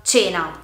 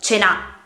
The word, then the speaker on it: cena: Lo stesso vale per la parola cena. Non la pronunciamo cena, ma cena. Quindi l'accento cade sulla prima E.